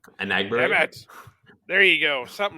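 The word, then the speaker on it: Enagbare: Damn Anagbury? it. There you go. Something like that. No. Inigbare. I think it's Inigbare. No, it's Anagbury. He mentioned it prior to the season.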